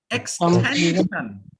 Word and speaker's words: extension: Extension. Extension. Extension. Yeah, it's not what we say in India. Extension. In India, we say just the opposite.